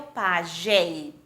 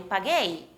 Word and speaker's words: paguei: queria dizer eu paguei que temos que fazer para que a pronúncia seja eu paguei exato adicionamos a letra u o mesmo que em espanhol Eu acho que é um assunto muito intuitivo somente na primeira pessoa adicionamos para que se pronuncie eu paguei vejam que No resto